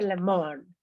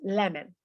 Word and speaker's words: lemon: Nos acordamos cuando una palabra acaba en O-N, casi siempre en inglés se pronuncia N, lemon. No se dice lemon, it's lemon.